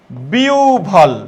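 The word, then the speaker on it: বিহ্বল: ভ আওভান হ্যা আওভান আর হবের পূর্বে রসকার বা দীর্ঘকার থাকলে কি হবে লক্ষ করো আমরা বললাম বিহবল হ্যা লক্ষ করো তাহলে হবের পূর্বে কি রস আছে তাহলে রস হয়ে যাবে তাহলে এটা কি হবে বিউভল তহলে কি দেখছো চেঞ্জটা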